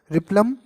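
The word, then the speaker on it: replum: से हो गया रिप्लम, एल साइलेंट होता है, आप रिपम भी कह सकते हो, रिप्लम, रेसीम और रेसीमोस, ये 3 करेक्टरिस्टिक हैं।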